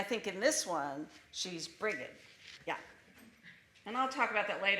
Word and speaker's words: Brigid: Now, this is the story of Brigid and the Cursed Winter, or Brigid and the Cursed Winter, because how you pronounce her name changes. And I think in this one, she's Brigid.